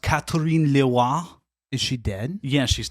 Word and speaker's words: Catherine Leroy: Her name was it's pronounced Catherine Leroy.